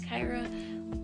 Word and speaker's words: Khairah: R-A-H sounds like Ra, yeah. And K-H-A-I is Kai.